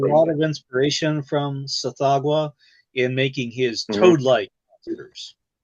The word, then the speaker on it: Tsathoggua: That's not how it's pronounced. But the name of the creature is like TSHGH. Jesus. Tsathoggua.